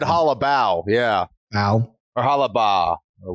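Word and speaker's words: Holobaugh: But this, in some part, is me trying to inform the masses so that when I'm banging Hollabo this weekend and everybody thinks it's Hollabaugh because it's spelled B-A-U-G-H.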